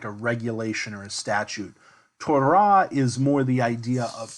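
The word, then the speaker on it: תּוֹרָה: you probably I mean modern Hebrews gonna pronounce this as Torah but in Biblical Hebrew the accent is on the last syllable Torah tour throat teaching law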